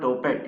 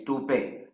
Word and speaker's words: toupee: It's not topet, it's toupee.